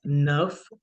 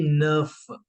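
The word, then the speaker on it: neuf: is with with then nine is नफ again इ यू a sound जैसे कि टू में हमने यूज किया था ना द वैसे न प्लस एफ क्योंकि लास्ट में कंसोनेंट साउंड देता है तो आपकी साउंड बन जाएगी नफ न प्लस फ नफ and then for टेन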